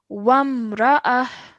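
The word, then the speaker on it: وامرأة: So over here, what will happen is that this ta al-marbuta will change into a ha, and this tanween will turn into a sakin, a sukoon. Okay, so it's ha sakin. So we would read this as wamra'ah.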